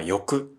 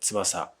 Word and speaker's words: 翼: これ厳密には翼と読むんですが、わかりやすいので翼と呼びますね。